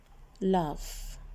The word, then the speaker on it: laugh: Now look at this word laugh. And listen to the sound of these letters. Yes, we pronounce it like F sound. Like F sound. GH. When GH is behind AU, it pronounced F sound.